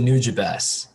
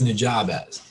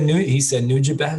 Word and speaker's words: Nujabes: And he pronounced it Nujabes. And so I'm like, well, that's how you say it then. Because I always read it as Nujabes. I don't know why. Hey, I'm over here saying Nujabes, so it's he said Nujabes, so I'm like, that's how it is then.